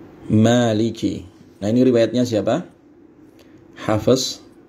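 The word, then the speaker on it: مَالِكِ: Nah, Maliki panjang ma-nya ya, isbat alif di situ. Maliki, Maliki ya. Maliki.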